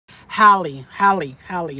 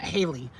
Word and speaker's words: Halle: Haley says, rhymes with Halle Berry. Halle, not Haley. Halle.